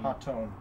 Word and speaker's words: Hotone: Hotone.